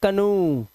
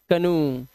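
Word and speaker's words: canoe: लेकिन कुछ वर्ड में ओ ई का उच्चारण उ हो जाता है।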